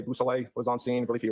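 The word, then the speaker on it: Beausoleil: Could you say that name again and spell it for us? Yes sir. It's trooper Busel.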